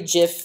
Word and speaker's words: GIF: So so I'll have a div, and I want to repeat this div for every GIF in my Jiffy's array. So I'm going to say GIF with a hard G in Jiffy's.